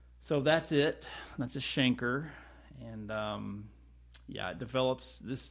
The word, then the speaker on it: chancre: in stages and primary stage this is actually pronounced a chancre this little area there in fact I should probably just fold that right there it's kind of a rubbery lesion but it's pronounced Schenker believe it or not the infection appears at